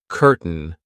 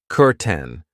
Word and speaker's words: curtain: I know it looks like curtain but we pronounce it curten.